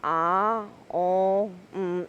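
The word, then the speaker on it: Aum: Ah-O-Om is pronounced Ah-O-M in a singing tone 3 times.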